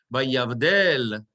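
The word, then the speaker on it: וַיַּבְדֵּל: Vayavdel. Everybody understand why it's vayav, not vayave, but vayav, two little dots, right? Vayavdel, and the accent is on the dalet. Vayavdel Elohim bein haor uvein hachoshech.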